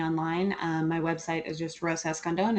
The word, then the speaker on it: Rosa Escandón: Pronounce it the correct way for everybody who's listening. It's Rosa Escandón.